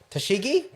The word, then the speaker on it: Tashigi: oh I forgotten her name already how to pronounce it I've lost it already tashiki Tash tashigi T there we go Tash so many names